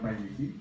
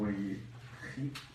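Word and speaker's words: וַיְחִי: En hebreo se pronuncia Vayehi o Vayehi y significa y vivió.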